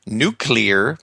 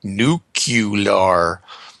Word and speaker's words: nuclear: I have one suggestion when you're saying nuclear please avoid the easier nucular please don't get me wrong I'm from Eastern Europe and could not understand why is sometimes pronounced this way even Stanton Friedman uses